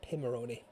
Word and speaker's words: Pimoroni: So, it's not Pimoroni, it's Pimoroni. Pim. There you go. I had a session with John where he taught me coached me how to say it properly cuz I kept saying it wrong. So, yeah, Pim as in Pims.